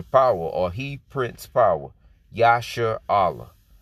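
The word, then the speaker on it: ישראל: or he prints power yasha allah okay which is how you say israel in the hebrew okay in the paleo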